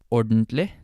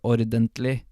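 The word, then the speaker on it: ordentlig: pronunciation of this word it's sort of like portly like it's kind of like collapsed on itself you don't say aw didn't Lee hello you could but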